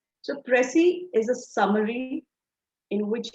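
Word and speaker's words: précis: It's called pressy. The S is silent. So, pressy is a summary in which you create a shorter version of the original passage.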